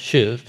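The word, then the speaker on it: שׁוּב: If you see it spelled, it looks like shove, like junior hires shoving or something. So, but it's actually pronounced shuv. So shuv, it's literally, it's just an image from walking.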